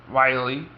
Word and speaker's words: Wiley: by how I pronounce Wiley, because I pronounce it without an ow. I pronounce it, like as in Wile E. Coyote, and also she'll get